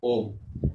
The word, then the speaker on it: homme: को बोलते हैं हम ओम, HOMME। H साइलेंट हो जाता है, जैसे कि मैं पिछली